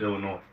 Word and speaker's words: Illinois: I think the S is silent, so it's just Illinois.